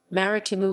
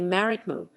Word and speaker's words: Marítimo: CS Marítimo Club Sport Marítimo MH M, commonly known as Marítimo Portuguese pronunciation, Marítimo locally Marítimo, is a Portuguese sports club founded in Funchal, Madeira, in 1910.